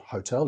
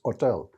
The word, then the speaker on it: hotel: pronounced with y uh the h i think most of us understand is silent in spanish so it's not hotel it's hotel it's not hostile it's